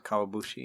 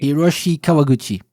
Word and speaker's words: Hiroshi Kawaguchi: Kawabushi? Hiroshi Kawaguchi.